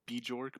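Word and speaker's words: Björk: cool because it Oh, just yeah, goes to Bajork. show. Yeah, Yeah. Bjork is he's Oh, pronounced oh, Bjork.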